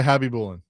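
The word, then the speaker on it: Khabibulin: Chase Nikolai Hobby Bulan.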